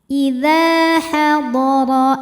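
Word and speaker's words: إذا حضر: Idza hadara, Huruf ra dibunyikan secara tafkhim karena berharokat di atas yaitu fathah. Cara membacanya ditebalkan. Idza hadara ahadakumul.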